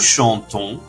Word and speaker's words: chantons: The NS is silent and the O is pronounced deeply. Nous chantons means we sing.